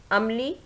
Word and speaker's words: عملی: بے زبر، ہے جزم۔ عملی، عین زبر، میم زبر، لام خالی، یہ جزم۔ مظاہرہ، میم پیش،